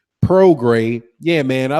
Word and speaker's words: Prograis: But yeah, Regis Prograis, I got to remember, I keep mispronouncing the last name. Prograis.